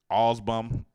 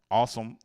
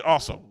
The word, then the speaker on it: Awsumb: Ramsey County District Judge Robert, it looked like it say Osbum, awesome. It do say awesome. That is his name. AWSUMB. That spells awesome. Awesome with a silent B.